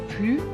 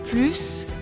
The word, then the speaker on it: plus: mange plus que moi on prononce plus quand il est devant un adjectif qui commence par une consonne il est plus vieux que ma soeur on prononce également plus quand il est devant un adverbe les on dort plus longtemps que moi enfin on prononce l'adverbe plus plus quand il est devant un nom avec une voyelle parce que nous devons faire la liaison par exemple cette maison